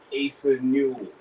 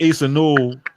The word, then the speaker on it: Asa Newell: If I'm OKC, I'm taking Asa Newell from Georgia.